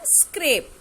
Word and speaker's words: scrape: Let's look at the words scrap and scrape. Scrap, it pronounced like rap and tap. And in scrape, the rape with tape.